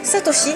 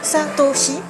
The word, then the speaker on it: Satoshi: japonais donc Sacha c'est Satoshi et c'est très facile c'est juste satosi Satoshi mais plus dur Pikachu